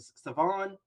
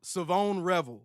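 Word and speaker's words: Shavon Revel: Even uh uh I'm going say it right this time. Was it Savon? No. No. Savone Revel. Savone. That's what it is.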